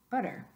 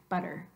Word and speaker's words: butter: butter say that word butter now unless you're from Britain or have learned British English you're not saying a tea at all any kind of a tea aspirated or not you're saying Adi try it again butter